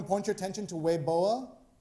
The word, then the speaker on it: Weibo: point your attention to wei boa spelt weibo pronounce weiboa which is a chinese language